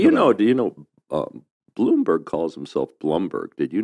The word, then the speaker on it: Bloomberg: that calls them Bloomberg but he calls himself Blum that's the European pronunciation well I mean I